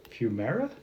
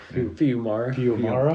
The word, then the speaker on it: Fiumara: Rick Remender, Max Fumara? Okay. I know everybody thinks I know how to pronounce these people. You are the... Fiumara? Fiumara.